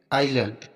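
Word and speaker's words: island: है एग्जांपल देखते हैं आइलैंड अब यहां पर देखो आई और एल के बीच में एस है तो एस यहां पर साइलेंट रहेगा इसको आईलेट पढ़ेंगे नेक्स्ट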